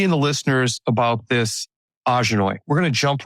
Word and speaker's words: Ajanoi: Ahjha-noy is something that came to me many years ago. Well, I've been doing this side business full-time business now for about 9 years. And Ahjha-noy is spelled AJANOI.